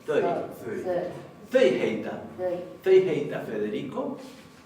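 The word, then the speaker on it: þau: Pero recordemos que este pronombre no se pronuncia thou, sino que se pronuncia thøy.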